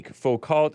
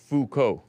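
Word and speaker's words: Foucault: GMD Jim says terrible GMD Jim says Hey Falt is pronounced Fuko oh okay that makes sense Fuko boring topic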